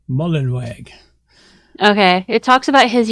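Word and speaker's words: Mullenweg: bit talks about matt mullen wigs don't even say his name right mullenwag okay it talks about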